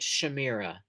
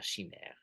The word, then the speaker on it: Chimera: Chima is very interesting I grew up pronouncing it Shamira um I was a reader and no I didn't read out loud a lot and so before I learned to pronounce the word correctly I always said I always said Shamir but in French of course it's l shim um but it's the